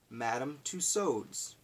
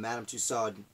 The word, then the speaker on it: Tussaud: kind of familiar you may recognize the name madame tussauds to saud bana pronunciation Madame Tussaud who has several wax museums